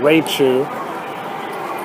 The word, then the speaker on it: Raichu: Check if Raichu's, and the correct pronunciation, Raichu, his games are available.